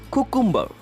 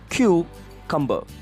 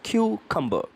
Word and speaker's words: cucumber: pronounce this word as koo kumba but the actual pronunciation is cucumber yes the first Cu has to be pronounced as Q yes the alphabet q and the next one is cumber it's cucumber shall we move to